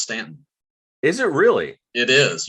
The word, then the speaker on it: Staunton: a guidance counselor at grace christian school in staunton virginia george thank you very much for joining